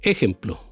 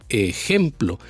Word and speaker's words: ejemplo: si no se escucharía ejemplo tampoco en la palabra en la sílaba plo que se escucharía ejemplo Entonces el golpe de voz va en la palabra gem ejemplo Y esa sílaba al